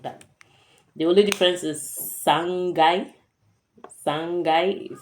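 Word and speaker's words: 三階: The only difference is sangai. Sangai, so it doesn't take kai, it takes gai.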